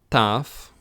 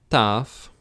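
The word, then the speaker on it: ταυ: word next we have tough again tough and this looks like a t it's pronounced like a team nice and easy epsilon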